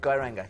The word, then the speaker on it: Geiranger: And then Geiranger is next, isn't it? Geiranger, yeah. Geiranger, and got Geiranger Fjord as well. Was my pronunciation not quite there?